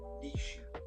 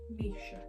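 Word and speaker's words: Naoise: go we're going to butcher it again nice noce stolen that is not correct I'm going to check how you pronounce that Nisha Nisha well I butched that I got that completely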